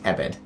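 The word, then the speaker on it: עבד: If for no other reason, then the Hebrew word used, which is spelled ayin beit dalet, pronounced ebed, is used in a diverse number of ways throughout the Old Testament.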